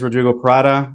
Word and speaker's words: Rodrigo Parada: to hear um so yes my name is Rodrigo parata I'm a real estate investor based out of